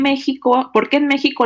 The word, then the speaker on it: México: Tenemos otra pregunta de David Álvarez que dice, ¿por qué en México la pronunciación de la X, es como la J?